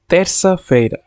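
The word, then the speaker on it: terça-feira: তুমিঙ্গো Sunday রবিবার সিগুন্দা ফেরা সিগগুন্দা ফেরা সোমবার তেরসা ফেরা তেরসা ফেরা মঙ্গলবার কোয়ার্তাফেরা কোয়ার্তা ফেরে ওয়েনসডে বা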